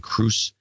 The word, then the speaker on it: Cruz: call out from Ryan Cruz. Happy Father's Day to our borderline father of the year, Tom Cruise, pronounced like the actor from Ryan, Angie, Silas, and Aubrey.